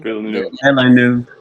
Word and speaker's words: Villeneuve: Villeneuve. How do you say his last name? Villeneuve. Oh yes, Villeneuve.